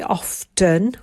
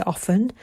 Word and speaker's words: often: Often, we don't say often, we say often, so the T is silent.